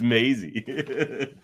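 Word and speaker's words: Maisie: Mazy I just said Mazy then correct it rain because mazy's the actor or Maisy no it's Maisy is is that that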